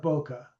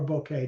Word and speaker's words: bokeh: And as you can see also, if you look back, you'll see that there's a fair amount of bokeh or bouquet, depending upon how you pronounce it.